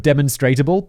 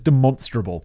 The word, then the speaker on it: demonstrable: like the way i learned the correct pronunciation pronunciation of demonstratable like to demonstrate something is demonstrable i love that uh that's clearly demonstrable but